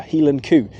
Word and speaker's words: Hieland coo: Highland cow, or as they say in Scotland, a Highland coo, a Hieland coo. And that's not just me mocking the Scottish accent, by the way. That is really the word, and that is how they say it.